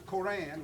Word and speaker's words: Quran: the Islam, which is the Quran, which we pronounce Quran.